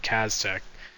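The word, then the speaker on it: Caztec: There's a guy named Kaztech. It's spelled C-A-Z-T-E-C.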